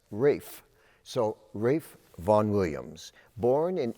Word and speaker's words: Ralph: And the first name, R-A-L-P-H, he pronounced as Rafe.